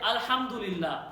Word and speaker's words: alhamdulillah: Try to say alhamdulillah. Please, the entire word. Alhamdulillah. Try it. It doesn't hurt to add one more syllable to the word itself.